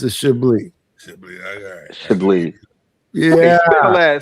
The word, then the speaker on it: Chablis: The S is silence, like the G is silent in lasagna.